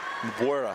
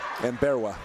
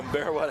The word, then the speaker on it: Mberwa: And he'll bring it forward in the corner to Mabuera. How do you? Mberwa. Mberwa? Yep. It's not how it's written. Correct. I had to get the pronunciation guide. So. Mberwa had it.